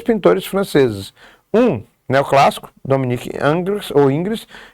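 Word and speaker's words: Ingres: ou Ingris, a gente pode chamar de Ingris, mas a pronuncia seria Angris, quase não sai.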